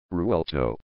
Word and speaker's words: Revuelto: The Italian automaker Lamborghini produces a mid-engine plug-in hybrid sports car known as the Revuelto, Spanish pronunciation, Revuelto.